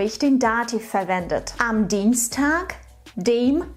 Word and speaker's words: Dienstag: Übrigens, achte bitte darauf, dass du im Wort Dienstag ein K am Ende aussprichst. Dienstag. Dienstag.